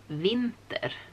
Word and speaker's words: vinter: So today is winter, and in Sweden we say vinter. So it's pretty much the same word, vinter, but we spell it with a single V, and otherwise it's pretty much the same.